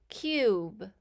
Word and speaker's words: cube: Cube. We hear K, U, B, and the E is silent.